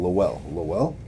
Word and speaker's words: Lowell: Massachusetts Lowell. I pronounced it wrong. Lowell.